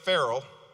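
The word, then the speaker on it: Farrell: of Transportation now Deputy Mayor frell which rhymes with mayor Herold by the way is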